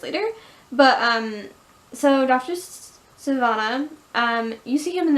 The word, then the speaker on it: Sivana: Hyer pronounces sivanna effing that's how you pronounce it dr. sivana and the seven deadly sins which was cool